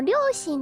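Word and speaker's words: 両親: But the parents character you usually pronounce like oya. But since ryoshin is a compound that's kind of based off Chinese, I guess, you pronounce it shin.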